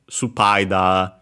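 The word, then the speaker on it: スパイダー: Yeah, it's simply uh spider with a longer vowel at the end. Uh spider and then of course the uh uh after the sue at the start because yeah, we don't have s on its own in Japanese. So yeah, but since it's between unvoiced consonant is barely heard if at all. And so yeah, supid spider.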